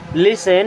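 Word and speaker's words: listen: के बनता है डोंट लिसन यहां पर टी होता है साइलेंट एंड इसे पढ़ते है लिसन लिसन मीस होता है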